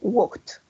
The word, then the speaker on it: walked: But here, what is red, we're going to say walked, watched, worked. Yes, that's like a T. Como una T. Walked, worked, watched.